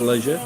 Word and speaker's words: leisure: No, this is more for leisure. Oh, okay. Can I just tell you, it's pronounced leisure.